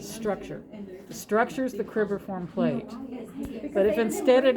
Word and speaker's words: cribriform: Next is the cribiform plate. Or cribriform. Cribriform is how you say it.